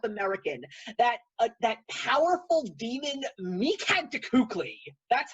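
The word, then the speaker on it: Mictlantecuhtli: that it's south american that that powerful demon meekhand cookley that's how you pronounce the name i had to watch the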